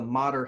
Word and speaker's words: Matter: have Instagram and Facebook and follow follow the modder health associates page that's m80 ter it sounded spelled like matter pronounced like modern modern health associates